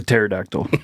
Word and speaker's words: pterodactyl: Because the P is silent. Yeah. Oh, I tried to. Yeah. I get it. Because the way it's spelled. Yep. It's a pterodactyl.